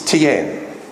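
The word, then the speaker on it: 天: TN any Chinese people here today am i pronouncing this right it's not TN that's how the Australians would say it's tian and zhang d is another name for TN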